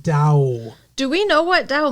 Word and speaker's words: Tao: Yeah, it's spelled T-A-O, but it's pronounced Dow.